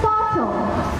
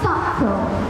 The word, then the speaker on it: subtle: For example, the word shown on screen is pronounced as subtle, not subtle.